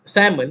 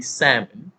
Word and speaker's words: salmon: go spinach spinach salmon salmon sorry so those who are still pronouncing it as salmon is actually sam the silent l and for those who